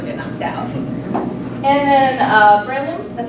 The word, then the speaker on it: Breloom: And then, Breloom, that's how you say it.